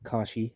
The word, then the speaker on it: Koshi: Little sister Koshe. A very different pronunciation to what I know, Koshi, or Kashi, as Captain Barnacle says.